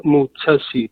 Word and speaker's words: Mutesi: Mutesi? It's Phiona Mutesi.